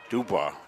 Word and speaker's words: Dubois: Dubois is the French pronunciation.